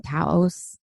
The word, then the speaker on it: Taos: After having spent the large majority of her life in Seattle, she now lives in Taos, I think that's how you pronounce it, New Mexico.